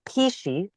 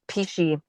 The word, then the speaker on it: pici: We make pici, and it's spelled p i c i, which is very traditional Tuscan um pasta recipe.